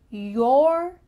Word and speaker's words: your: Notice my lips when I say your compared to your. It's a little bit different. It kind of sounds like Y-E-R.